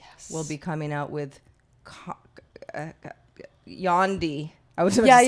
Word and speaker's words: Yandhi: I would be remiss if I didn't mention that Kanye will be coming out with Yandhi. I was about to say Condi. It's like spelled like Gandhi.